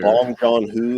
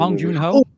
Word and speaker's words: Bong Joon-ho: Is it Bong Joon-ho? Is that how you say his name? I think it's his name. Bong Joon-ho.